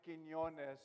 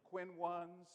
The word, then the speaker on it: Quiñones: And thank you, Paola Fernandez, for pronouncing Quiñones so well. It's not the easiest name to pronounce. I've been called everything from Quinones to Quinones.